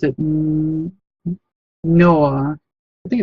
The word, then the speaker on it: Nioh: Noah. I think it's Noah. Like Nioh. You know what I'm talking about? Oh, Neo.